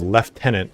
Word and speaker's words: Lieutenant: you did not know Lieutenant as we pronounce it the reason it's called Left tenant is because of the way Old English words used to look yeah I we should